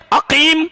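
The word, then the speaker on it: عقيم: اور عقیم کیف ننطق عقیم، عقیم میم منہ بند ہو گیا. الفم مفتوح لا تنفتح لا تلد، یعنی منہ بند ہو گیا ایسا ایسا.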